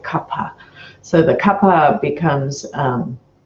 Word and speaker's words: kapha: But the kapha makes us, and by the way, it is pronounced kapha, not kapha. That's more of a Hindi pronunciation. In Sanskrit, you would say kapha.